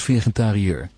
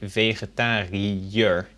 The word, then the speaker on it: vegetariër: That is to separate the sounds of the I and the E, because normally if you put an I and an E together, you get the sound E.